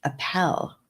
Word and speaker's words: Appel: Appel like apple.